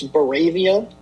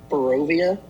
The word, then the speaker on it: Barovia: I've heard I've been saying it wrong. It's Baravia, not Barovia.